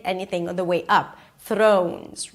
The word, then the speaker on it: Thrones: Throw. O as in go. Make sure you add a w at the end. Throne. and add a Z. Thrones.